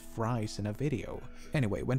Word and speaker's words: Fries: of one count Fry's well it's most likely pronounced count freeze but I'm gonna ignore that cast upon the side because how often do you get to say count fries in a video anyway